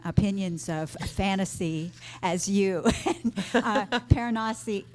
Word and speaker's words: Piranesi: Paranasi is, how do you say it? I pronounced it Piranesi. I think that's how the author said right.